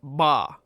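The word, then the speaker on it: 八: The numerical version of that in Chinese is pronounced ba.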